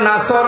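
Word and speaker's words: نصر: এখানে সোয়াদ আছে, নাসর মানে সাহায্য, আর নুন সিন র নাসর মানে ঈগল পাখি। আপনি যদি মুখটা গোল করে শুদ্ধ করে উচ্চারণ না করেন, অর্থ আকাশ পাতাল পাল্টিয়ে যাবে।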